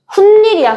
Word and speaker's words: 훗일: 근데 발음할 때 어떻게 해요, 가율? 훗일이야, 훗일. 그럼 발음할 때 뭐야? 니은 소리 난다고.